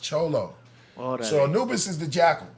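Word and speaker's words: Xolo: oh you're talking about Zolo it'si exactly but it's pronounced cholo so Anubis is the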